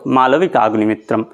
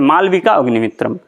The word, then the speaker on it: মালবিকাগ্নিমিত্রম: আচ্ছা, মালবিকাগ্নিমিত্রম এটা কিন্তু উচ্চারণটা ঠিক করে করবে। আবার কেউ কেউ বলে, আমি দেখেছি সংস্কৃতের স্টুডেন্টদেরকে বলতে যে মালবিকা অগ্নিমিত্রম, মালবিকা অগ্নিমিত্রম না মালবিকা অগ্নিমিত্রম।